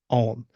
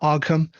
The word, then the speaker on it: Ogham: script that we have in Ireland is named om and that's OG g h a m om it's not aam and I can understand how people might mispronounce